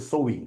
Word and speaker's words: sewing: It's called sewing. That's how we pronounce this, sewing, like that.